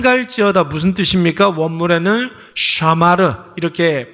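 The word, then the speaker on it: שמר: 쓰는 말은 아닌데 삼 갈지어다 무슨 뜻입니까 물에는 샤마르 이렇게 발음을 하는데 원래는 울타리를 치다 이런 뜻이에요 여러분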